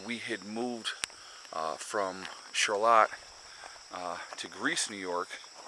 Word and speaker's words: Charlotte: charlotte new york and not charlotte it's charlotte just so you know being clear um it's spelled the same different pronunciation figure that one out